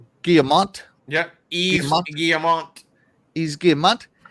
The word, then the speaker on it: Guillemot: Guillemot. Y-V-E-S Guillemot. Yeah, Guillemot.